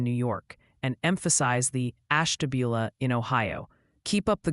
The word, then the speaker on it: Ashtabula: It's apparently Olean for Olean, New York, and emphasize the Ashtabula in Ohio. Keep up the good work wrangling those vowels. Isn't it Ashtabula?